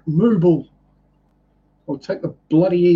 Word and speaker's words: Mobile: No, it's called Mobile.